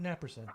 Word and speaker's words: Naprosyn: And yeah, I'm gonna go home and take some Naprosyn. All right, man. Start my night. I've led a really stupid life. Things hurt. Naproxen? Yeah. Okay. Or Naprosyn, if you're, you have good pronunciation and diction.